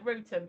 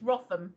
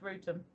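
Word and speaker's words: Wrotham: It is almost because of but yeah, Rutum. But people would think it's Rotham, but it's not. It's Rutum.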